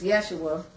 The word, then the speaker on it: Yeshua: Now, Jesus Yeshua, which is really how you pronounce the name, said it best.